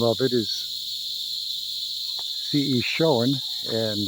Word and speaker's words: Shoen: name of it is Shoen, and it sounds just the way it's spelled, S-H-O-E-N.